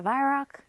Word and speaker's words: Weihrauch: This is the WEIHRAUCH. I guess it's how you say it. I've heard people, of course, across the water call it a WEIHRAUCH. The W's a V, but the W's a W to me, so I'm going to say WEIHRAUCH.